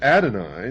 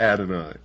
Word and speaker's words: Adonai: not God, would Adonai, the God of the Christians and the Jews,